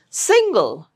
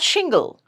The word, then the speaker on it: single: Single, not shingle, single.